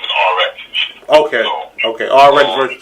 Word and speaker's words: RX: Well, her nickname is Reese. That's what everybody call her. Okay. But her battle rap name is RX.